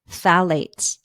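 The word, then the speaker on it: phthalates: much better now let's talk about something called phalates and this is spelled p h t h a l a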